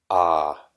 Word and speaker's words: Ah: And with your mind, you'll recite the sound Ah, A-H, like ah.